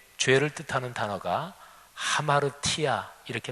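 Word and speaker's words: ἁμαρτία: 헬라어로 죄, 죄를 뜻하는 단어가 하마르티아 이렇게 발음합니다.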